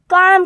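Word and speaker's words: calm: इज़ क्या पढ़ेंगे student is सी एल एम काम क्या पढ़ेंगे स्टूडेंट काम इसमें एल साइलेंट है इसलिए अपन इसको काम पढ़ेंगे ए एन डी एंड क्या पढ़ेंगे इसमें?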